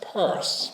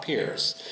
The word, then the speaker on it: Pierce: But the whole concept was it would be run by four generations of family known as Pierce, not Pears, who would actually purvey in some ways the finest imported goods, as well as great domestic goods.